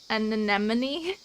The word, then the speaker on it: anemone: Is it an anemone?